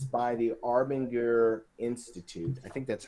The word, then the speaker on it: Arbinger: It's by the Arbinger Institute. I think that's how you say it. Arbinger, yeah.